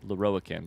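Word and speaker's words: Lorroakan: Meet Aelin and Loroakkan.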